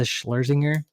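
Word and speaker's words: Schlesinger: favorite female comics right now is uh eliza schlerzinger yeah that's how you say her name yeah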